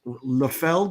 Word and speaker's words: Liefeld: you about uh rob liefeld a douchebag and a friend of mine it's uh pronounced la feld now i believe okay no you didn't